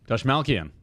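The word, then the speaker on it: Dastmalchian: Dashmalkian. Dashmalkian. Yeah, CH.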